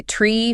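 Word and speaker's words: three: You'll hear numbers like 3, 5, and 9 spoken as tree, fife, and niner.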